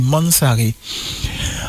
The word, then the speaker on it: Mansaré: a créé Ramsès là, faut sa vraie prononciation là c'est Mansaré.